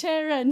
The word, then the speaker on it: Charan: It's Charan. Yeah, it's Charan. And I'm like, guys, it rhymes with Darren or Karen, but it's Charan, you know.